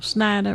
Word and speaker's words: Snyder: of snyder you know schneider rhymes with spider snyder gets elected governor